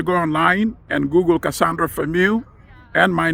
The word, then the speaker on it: Fameux: Search for that petition under her name, Cassandra Famu. The last name is spelled F A M E U X and sign that petition.